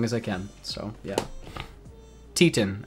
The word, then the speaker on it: Titane: I can so yeah Tian I think is how you pronounce this film I would always pronounce this as titane like I don't know if that's how you pronounce it but um I heard somebody recently call it uh Tian and I was like oh okay um so I'm probably I've probably been wrong for the past 3 years but um this